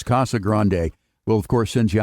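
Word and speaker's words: Casa Grande: Some people say Casag Grand, but I like to go with the Spanish pronunciation. It's the big house, Kasa Grande.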